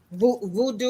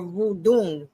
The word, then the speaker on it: voodoo: So, but to those, the same people that gave the name dreadlock, they're the same people who were afraid of voodoo or voodoo, really is how it's pronounced.